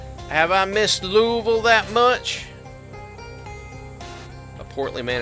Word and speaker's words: Louisville: wondering the largest city in Kentucky is not pronounced Louisville it's Louisville this guy said Louisville because it's